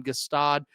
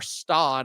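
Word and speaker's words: Gstaad: Another for me a huge win uh bet on Gastad or Stad I guess is how you actually say it. The G is silent.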